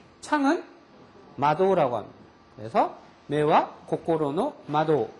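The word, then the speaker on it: 窓: 마음심자는 고꼬로라고 발음합니다. 창은 마도라고 합니다.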